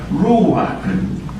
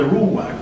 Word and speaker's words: ruach: Espíritu es una palabra hebrea, se pronuncia ruach, y es usada 377